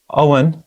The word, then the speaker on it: Abhainn: you've released a new album called owen is that pronounced right okay yeah okay and